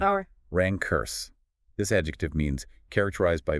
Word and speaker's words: rancorous: First, rancorous. R-A-N-C-O-R-O-U-S. U.S. pronunciation, Or rancurse.